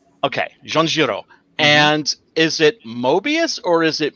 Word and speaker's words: Moebius: a while back because i thought that you would pronounce the e more in english you just pronounce it the same way oh okay so in